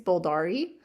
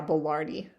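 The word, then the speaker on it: boulardii: system is um, sacroyces bulari. Uh, otherwise known as esbulari and oh no, is it bolardi? I always say it wrong. Yeah, bolardi.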